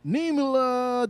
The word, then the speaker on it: Niemela: All right, so with us today, we have Raegan Niemela. Did I pronounce that right?